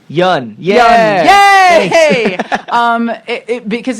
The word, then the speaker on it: Yeun: Uh and everybody who's listening out there now, you know how to pronounce his last name. Yan.